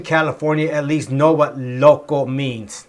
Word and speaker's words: loco: So many times the language is transferred over, and loco is one of those words that most people in California at least know what loco means. I guess you could say loco, but it's pronounced more loco.